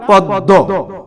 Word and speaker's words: পদ্ম: বর্ণের দ্বিতীয় উচ্চারণ হবে যেমন পদ্দ এখানে দর সঙ্গে আসছে দ টা হলো শেষ বর্ণ শব্দের দর সঙ্গে মফাল আসার কারণে ম ফলা উচ্চারিত রয়েছে দ এর দীর্ত উচ্চারণ হয়েছে তাহলে আমরা এখানে পেলাম পদ্ম অনুরূপভাবে গ্রীস আমরা অনেকেই